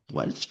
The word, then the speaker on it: Walsh: Nos encontramos hoy día con Felipe Reyes, escritor de Escribir es escuchar, que reúne las crónicas y textos de Rodolfo Walch. Walch se pronuncia.